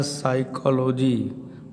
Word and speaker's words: साइकोलॉजी: इसी प्रकार साइकोलॉजी, पी के बाद देखिए यस आ रहा है तो इस पी का उच्चारण क्या हो जाता है, साइलेंट हो जाता है।